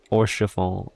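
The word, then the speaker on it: Haurchefant: Okay, so tune to the crystal first and then we can speak to Horschafal or O oral since the H is not pronounced.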